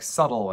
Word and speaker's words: subtle: That's where the silent B in words like subtle and debt comes from.